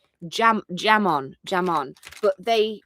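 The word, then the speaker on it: jamón: It's pron it's jam jamon. Jamon, but they pronounce the j as a.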